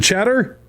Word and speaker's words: Cheddar: Is it Cheddar? Yeah, cheddar, just like the cheese, buddy.